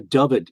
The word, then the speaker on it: Dyfed: It was called the Dyfed Enigma, and Dyfed is spelled D-Y-F-E-D.